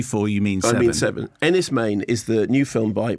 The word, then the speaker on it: Enys Men: because when you say four you mean 77 Ennis Maine is the new film by Mark Jenkin who might spell that okay so it's spelled Ennis men so